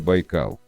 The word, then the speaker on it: Байкал: Русские первопроходцы, проникшие в эти земли в 17 веке, сначала использовали венкийское название море Ламу, и лишь позже позаимствовали бурятское наименование, которое стало произноситься на русский манер Байкал.